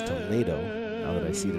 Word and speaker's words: Toledo: It's not Toledo, it's Toledo, now that I see the routine.